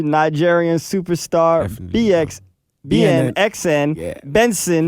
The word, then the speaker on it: BNXN: Benson. Pronounce it Benson.